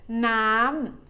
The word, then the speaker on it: น้ำ: ก๊อก The second syllable น้ำ น้ำ means water. It is a falling tone.